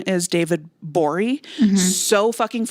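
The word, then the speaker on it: Gbori: bori live absolutely do his last name is spelled g b o r i gabori David it's just it's just the be and his Twitter handle is the g is silent good but it looks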